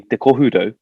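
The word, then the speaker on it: Te Kohurau: And its real name is actually Te Kohudo, but because of mispronunciation, it was, bastardized as Kurau. And the Kurau stuck so hard that they changed the town name to Kurau.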